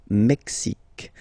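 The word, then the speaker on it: Mexique: mexic it's really the mexic and then remember this Q it's only mexic okay Brazil brail okay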